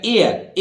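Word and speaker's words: heir: रहेगा इसी तरह देखिए एच ई आई आर यहां एच के बाद ओ नहीं है ई आई आर है फिर भी एच यहां साइलेंट रहेगा एयर एयर ये रहा आधा है एयर और वैसे भी अंग्रेजों में एक प्रथा है कि वो अंतिम आर को बोलते ही नहीं है एय कैसे बोलेगा एय इसका मतलब ऐसा लगेगा आपको कि आर का उच्चारण हो रहा है लेकिन आर नहीं बोलेगा फेंट प्रोनाउंस एशन होगा उसका और एर आप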